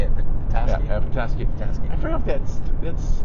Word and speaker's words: Petoskey: Yeah, Petoskey.